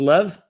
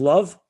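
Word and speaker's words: לב: chapter 32 in hebrew 32 is lev means the heart it also can be pronounced as love chapter on love what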